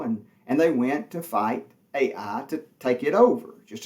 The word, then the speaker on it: Ai: city over there called Ai. And it's spelled just like it sounds, A-I.